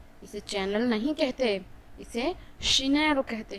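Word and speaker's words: Chanel: इसे चैनल नहीं कहते, इसे शिनेल कहते हैं। शनेल, शनेल।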